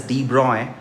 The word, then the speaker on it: de Broglie: The first question that we have in front of us, de Broglie wavelengths, it is pronounced as de Broglie, of two particles A and B are plotted